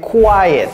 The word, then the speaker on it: quiet: Ne confondez pas ça avec quiet. Ne confondez pas quiet avec quiet. Quiet, c'est calme. Et vous voyez comment je l'ai prononcé. Quiet. Comme s'il y avait un Y avant le E.